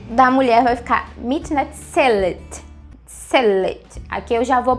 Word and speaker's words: מתנצלת: Ele vai ficar מתנצלת. Let. Então eu vou fazer o som do L.